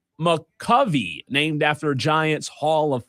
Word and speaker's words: McCovey: Texter says pronounced McCovey, named after Giants Hall of Famer Willie McCovey, talking about McCovey Cove.